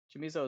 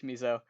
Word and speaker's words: Chamizo: Chamizo is weird, and it's probably Camizo. I'm sorry, to Philippe, who's the only person who's gonna yell at me for Italian pronunciation. But he is Cuban, so I think it's both. Uh, both ways work.